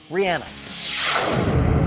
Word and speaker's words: Rihanna: that in fact her name is pronounced Rihanna look at you all